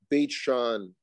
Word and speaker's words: Beit She'an: to the city of beit she'an beit shawn most people would pronounce it now beit on is